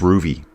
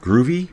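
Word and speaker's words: Rouvy: That where I'm riding through Roger's past, that's Ruby. And people are like, "Groovy? How do you spell it?"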